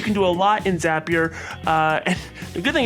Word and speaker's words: Zapier: do you call it zappier or zapier it is pronounced zapier it's not drinkier it is that a lot of percent because zapier makes you happier that's true that's true